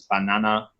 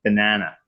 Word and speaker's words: banana: But then in North American it's banana, banana, banana. Right? It's yeah. The syllables are abbreviated through different stress patterns, so that this is unstressed and this is stressed.